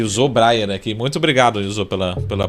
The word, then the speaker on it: Yohzô Breyer: E usou Breyer. Acertei aqui a pronúncia, não?